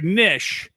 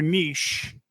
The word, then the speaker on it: niche: because you're going to find your nich your Niche your Niche depending on where you're from and how you pronounce that word um and then from